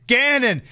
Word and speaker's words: Ganon: We got ways to make you pronounce it's Ganon. It's not Ganon like it's a candy or something. It's Ganon. Not Ganon.